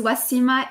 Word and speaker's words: Ouassima: so sorry I wanna probably slaughter at your pronunciation so I was gonna let you speak your name yes my name is West emma is Rob so is another spiritual name